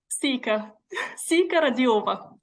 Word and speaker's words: Siyka Radilova: And Siyka Radilova, did I pronounce that correctly? Siyka Radilova. That's the correct one.